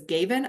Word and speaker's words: Gavin: In fact, that's really the rule when we have an open syllable, that vowel sound should be a long sound and not a short sound.